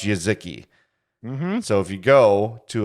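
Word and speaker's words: Jeżyki: package j e z j e z y k i y k i pronounce yaziki so if you go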